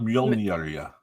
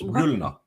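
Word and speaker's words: Mjölnir: It's not Mjolnir. It's Mjolnir. What? It's Thor's hammer. It's called Mjolnir. Oh. Yeah. But that one Yanks believe it's Mjolnir. Mjolnir. Sounds like ammonia.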